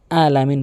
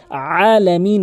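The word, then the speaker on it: العالمين: এরপরে মারাত্মক লেভেলের ভুলটি করে আলামিন বলে। অধিগংশলক আলামিন বলে। এখানে আইনের জায়গাতে হামজা এনে উচ্চারণ করে এখানে আইনের উচ্চারণ করতে হবে আলামিন ভর দিয়ে আলামিন আলামিন এভাবে চাপ দিয়ে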